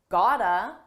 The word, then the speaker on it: gotta: I said you gotta kick it up a notch. First, notice how I used gotta. This is a reduction. It's a combination of the words got to, and it's pronounced as one.